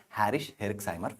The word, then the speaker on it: Jarisch-Herxheimer: We call it as a Jarisch-Herxheimer phenomena. Actually pronounced as a Harish-Herxheimer phenomena.